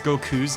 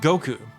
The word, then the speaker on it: Goku: um how they romanize goku's name in dragon ball first of all did you know it's not goku it's goku how about that now